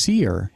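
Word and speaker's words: Sear: Seer may be spelled S-E-A-R, but it's also pronounced Seer, and it's no coincidence that it's Malcolm he sees.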